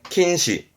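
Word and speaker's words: 禁止: 태시 했던 겁니다 복습하세요 금요 금지 킨시 킨시 했던 거 맞네요 방자 있죠 방지합니다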